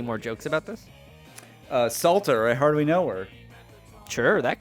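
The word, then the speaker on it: Psalter: precious content here uh a Salter spelled with a p it's like a h book or like a like a book of Psalms I'm skipping ahead because I want to play some 3:00 a.m.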